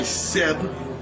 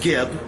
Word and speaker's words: Seb: was given birth by Seb and Nut, not Geb, not Keb. His name is Seb.